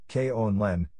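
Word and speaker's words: Grønland: pronounced call it nudity Danish Brundtland pronounced Kon Len is the world's largest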